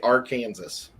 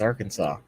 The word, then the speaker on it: Arkansas: did not know that it's against the law to say our kansas why would anyone say our kansas it's arkansas well if you read